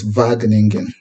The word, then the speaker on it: Wageningen: University by the way the W is pronounced as V so it's vagan University so let me